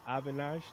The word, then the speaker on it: Avinash: We have in the middle Avinash. Did I pronounce that correctly? That's perfect, man.